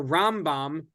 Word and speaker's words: Rambam: we re we um we differentiate between these two by accenting the first syllable of maimonides his name and the last syllable of his name so that's how you you can just tell if I'm talking about the rom-bomb it's going to be Accent on ROM and if I'm talking